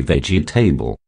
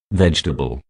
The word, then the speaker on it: vegetable: mud number two vegetable this word is highly mispronounced due to the vowel e after the g of the veg do not say veggie table i repeat do not